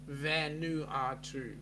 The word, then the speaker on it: Vanuatu: It's pronounced Vano what? No. Vanuatu.